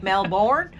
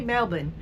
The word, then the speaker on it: Melbourne: Looks like Melbourne, but I think they say Melbourne.